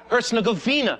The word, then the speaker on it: Herzegovina: ask your yugoslavian friends it's pronounced hertz like the rental car govina thank you very much